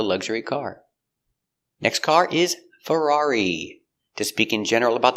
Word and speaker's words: Ferrari: Pronunciation of Ferrari. Fur fur a frer Ferrar E. Ferrari. Ferrari. Stress on the second syllable.